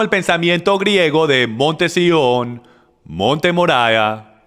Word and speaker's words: Sión: Ahora, el Monte Sión, y mucha gente lo llaman el Monte Zion, pero es pronunciado el Monte Sión, y el Monte Sión,